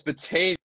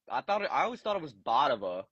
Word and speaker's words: Batavia: Oh, it's Batavia. That's how you say it. Yeah, Batavia. I always thought it was Batava. Batava? Yeah. Yeah, that's how I always pronounced it when I was younger, but then I found out that it was Batavia.